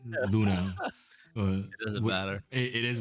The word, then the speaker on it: Luna: I keep saying their name wrong. I say Lumina, but Luna.